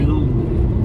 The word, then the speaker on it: Villandry: The waiter at the restaurant last night corrected our pronunciation, didn't he? Villandry.